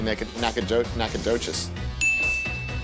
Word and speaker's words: Nacogdoches: I bet the G is silent. I bet you even said, like, let's throw a G in there, but let's not be able to hear it. So it's probably Nacogdoches.